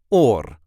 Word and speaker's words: oor: and this time we will see how to pronounce in a regular Dutch accent or or ear in English this is how we